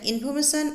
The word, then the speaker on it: information: Notice that information and calculation are pronounced with the stress in the third syllable. That is, we say the third syllable more strongly than the others.